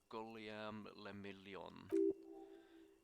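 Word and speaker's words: Guillaume Le Million: meant only one thing golem le million if it doesn't rhyme you're not pronouncing it right okay out of the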